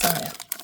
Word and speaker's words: Zia: It's not Zia, it's Zaya.